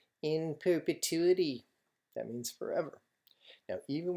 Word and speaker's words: in perpetuity: that's what it says and it's pronounced like that it's Latin in perpetuity that means forever now